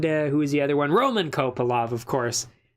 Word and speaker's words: Kopylov: Roman Kopylov, of course. Or Kopylov, I believe it's pronounced.